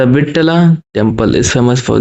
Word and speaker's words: विट्ठल: Question 30 है, द विट्ठला temple is famous for. जो विट्ठला temple है जिसको वित्थल वो कभी कभी प्रोनाउंसिएट करते हैं, वो किस लिए जाना